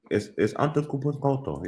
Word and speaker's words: Antetokounmpo: It's Antetokounmpo. Yeah, that's what it is. Spell it out, Craig.